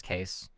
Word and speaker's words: Kees: My great uncle's name was Case. Case Boss. And and that's in Dutch that's spelled Kees.